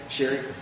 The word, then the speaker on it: Sheri: Sherry. It's okay. It's spelled like Sherry, like my parents for that.